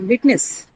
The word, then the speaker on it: witness: It's a disyllabic noun. So on the first syllable.